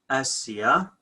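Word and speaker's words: ܐܣܝܐ: Okay, Ab, Asya, with a short A, like Alaha.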